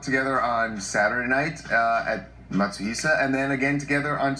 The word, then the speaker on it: Matsuhisa: Evan has just been on my case because I haven't pronounced the name of the restaurant. The restaurant they went to in Beverly Hills, Matsuhisa. Matsuhisa.